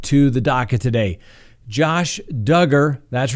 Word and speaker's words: Duggar: the daca today josh duggar that's right rhymes with hugger certainly not pronounced dugar we certainly learned that